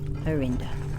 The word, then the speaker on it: Arinda: Uh, and then we have Lydia, horse rider, and then we're going Arinda, which rhymes with Linda.